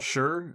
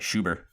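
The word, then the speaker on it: Schur: i don't guarantee anything michael sher s-c-h-u-r yeah that sounds right to me yeah i think last time you said his name is like schubert schubert michael schubert uh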